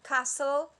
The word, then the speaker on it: castle: letters are mute like castle the t is mute or sword the w